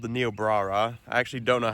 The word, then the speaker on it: Niobrara: Apparently, it's pronounced Niobrara.